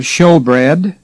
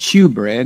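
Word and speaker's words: shewbread: was the table of showbread and that's spelled s-h-e-w but don't call it shoe bread it's show bread there was the lamb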